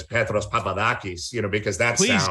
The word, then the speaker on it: Petros Papadakis: peter peterson yeah and you're not supposed to say it like i say it but i don't want to sound like this overly pretentious and introduce myself as petros papadakis you know because that's